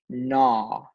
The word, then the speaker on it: gnaw: going to use KN your first word is na na the mouse would gnaw on the cheese